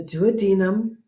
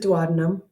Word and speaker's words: duodenum: And in order, the first part is the duodenum. And yes, some people pronounce it duodenum. I don't care.